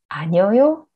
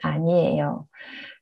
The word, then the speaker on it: 아니에요: 아니다 plus 어요, 아니어요. It's not correct. We say 아니에요.